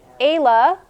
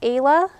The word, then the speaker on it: ala: That's a ala, or plural is ali. That's how you spell it. This is the plural. Okay, so it's ala, or plural is ali.